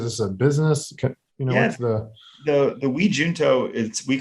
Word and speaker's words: junto: It's called Junto. Yeah. So it's probably like in Spanish, junto means together. And so you could say it junto, you could say it junto, both work.